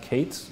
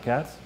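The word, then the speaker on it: Katz: whose last name is spelled k-8 easy but pronounced Kate's not cats and this article which went up on the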